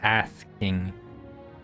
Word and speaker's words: Ass King: His name is he spelled his name, you know, like Ass King, except we pronounce it with a lisp, so it's Ath King.